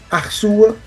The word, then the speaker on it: Arçua: Então o sedía ele simboliza essa fala, essa pronúncia. O sedía tá para isso, né? na forma primitiva. Então, arsua, arciola, arciola.